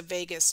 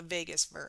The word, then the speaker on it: vagus: For example, there's a vagus nerve. It's not spelled the same way as Las Vegas.